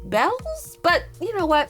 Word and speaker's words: Beals: I think it's actually pronounced Bells, but you know what?